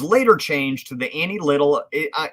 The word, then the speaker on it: Lytle: changed to the annie little i i hope i'm saying that right it might be lytle um it's spelled l-y-t-l-e um it was later